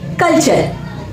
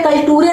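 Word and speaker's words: culture: लिखा है कल्चर कल्चर यहां पे कल टूरे नहीं पढ़ेंगे यहां पर पढ़ेंगे हम कल्चर अब यहां पर देखिए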